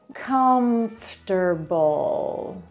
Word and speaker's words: comfortable: Dzielimy sobie na sylaby. Comforter, comfortable, comfortable. Dlatego tak bardzo ważne jest też słuchanie zamiast bierne czytanie słów.